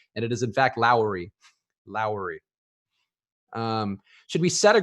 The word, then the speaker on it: Lowry: consulted about it and it is in fact Lowry Lowry should we set a group elusive smoke